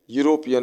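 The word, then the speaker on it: European: कौन सा होगा यूरोपियन यह भी वर्ड वैसा ही है य से स्टार्ट है भवेल लेटर से तो स्टार्ट है लेकिन यूरोपियन य से लिखा जाता है यूरोपियन इसलिए इसमें भी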